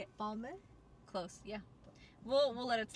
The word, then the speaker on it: Balmain: I would say Balmain. Cause it's like my man.